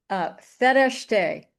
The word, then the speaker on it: Fereshteh: So as we begin that, we're going to have some time with Fereshteh. And note how I pronounce her name. I learned the actual Persian pronunciation this morning.